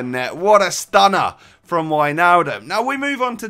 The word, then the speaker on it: Wijnaldum: Wijnaldum then, or Wijnaldum as I've been told by you Dutch guys is how you pronounce it, he was the star of the team.